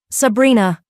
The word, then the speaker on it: Sabrina: Sabrina. He said it with the Sicilian pronunciation, rolling the R, making it sound like a caress.